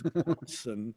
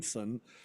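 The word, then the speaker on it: Borgeson: It's a Borgson. I always say Borgenson. I've been saying it wrong all these years because everybody else always said it wrong. It's Borgson, not Borgson. Borgenson. Okay. You dropped an N in there.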